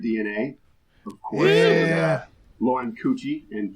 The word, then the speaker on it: Cucci: Lauren Cucci, and thank you, Lauren, for adding that's pronounced like Gucci.